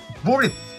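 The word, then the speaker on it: Blitzø: を買ってあのブリッツをブリッツといや王は発音しないぜてわけで 1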